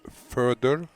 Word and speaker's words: Fedor: Okay, how do you pronounce the whole name? Fedor or Fedor. Actually, it's Fedor.